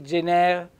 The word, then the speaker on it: gener: in dialet Allora gener mi raccomando l'accento senti gener accento fonico aperto accento tonico sulla seconda e o gennar è gennaio